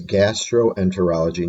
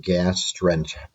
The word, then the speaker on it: gastroenterology: a really long term gastroenterology gastroenterology okay notice the combining o there okay so it's gastroenterology not gas strength gastroenterology you can see i can barely say the term so gastroenterology let's take